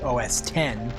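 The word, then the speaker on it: OS X: it as you know technically I think it was always supposed to be OS 10 10 yeah um but then they got up to OS 10 version 10 and now it's OS 10 10.10 and and it's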